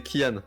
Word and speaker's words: Kian: Donc, en fait, c'est pas Anne, c'est Kian.